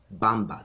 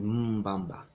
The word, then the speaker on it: Mbamba: Mbamba is also pronounced Bamba. That's where that term Bamba comes from. That's how the Portuguese pronounce it. They drop the M, they pronounce it Bamba. The correct term is Mbamba.